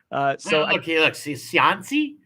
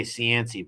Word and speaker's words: Cianci: Cianci? Jeff can't say it neither, like a Providence person. We say Cianci, Buddy Cianci.